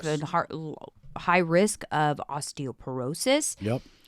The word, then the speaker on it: osteoporosis: heart high risk of osteoporosis osteoporosis is that what it is yeah did I say it right yeah osteoporosis and what do doctors